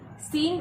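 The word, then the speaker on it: scene: फिर है सीन। सीन का मतलब होता है दृश्य, और इसमें सी साइलेंट है।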